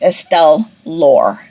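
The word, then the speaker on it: Estelle Laure: talked to you last her name is actually pronounced estelle lore based on how it's pronounced in the audiobook so yeah that is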